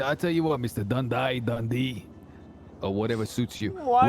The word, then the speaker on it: Dundee: D-U-N-D-E-E. Dundee. It's Dundee. Bondi. Yeah. Bondi. Okay, listen. J is silent.